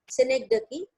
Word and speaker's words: synecdoche: सारे लोग इसको synecdoche pronounce करते हैं, but the real pronunciation is synecdoche.